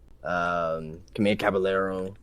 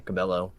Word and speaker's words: Cabello: Selena Gomez, Camilla Caballero, or Cabello, how you say her name? Cabello.